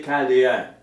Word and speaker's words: Chaldéen: Il sortit alors du pays des Chaldéens. Parfois ça s'écrit CH, parfois juste CA. On prononcerait Chaldéen.